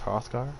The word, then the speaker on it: Hrothgar: That's Hrothgar, pronounced just like the Skyrim temple.